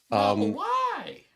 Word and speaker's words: Model Y: Model Y. Yeah, That's how you got to say. You have to say Model Y. Model Say it like Y.